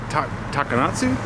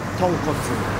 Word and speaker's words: tonkotsu: And apparently how do you say it? Takanatsu? Tonkotsu. Tonkotsu? Ton is pork and kotsu is pork. Okay. Tonkotsu.